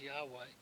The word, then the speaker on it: Yahweh: come only from Yahweh pesky spelling again spelled like our English designate for Jehovah Hebrew says Yahweh deliverance our blessing come only from Yahweh this is the exact